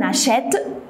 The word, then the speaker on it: achète: Alors comme exemple, on dit on achète. Voilà, qu'est-ce que vous avez remarqué? On n'a pas doublé le T, mais on a mis un accent grave pour le E, pour la prononcer est.